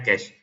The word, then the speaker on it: cache: Apa itu ini bacanya orang Indonesia baca KC ya. Sebenarnya case.